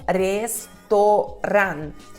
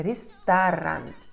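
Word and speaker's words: ресторан: O que acontece? O E se torna I e o O se torna A. Então é restaurant, restaurant, restaurant.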